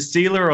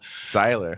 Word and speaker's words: Siler: Is it Sealer or Siler? Siler, yeah.